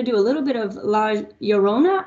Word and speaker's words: La Llorona: Well, this time we're going to do a little bit of La Llorona, I think is how you say that correctly.